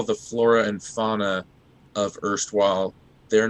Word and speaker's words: Erstwisle: It's spelled Erstwisle with like a pun with the word isle in it, like an island.